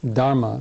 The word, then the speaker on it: Dharma: he taught the dhama or Dharma as it's pronounced in Sanskrit and Dam is a